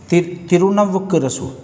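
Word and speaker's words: திருநாவுக்கரசு: जैसे तिरुनावल्लुरसु, तिरुनावुक्करसु, नाम भी प्रोनाउंस सही से नहीं होता।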